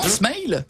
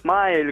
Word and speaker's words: smile: Comment ça se prononce comme un mail avec un S devant, smile? Exactement, smile. Comme à l'américaine, smile.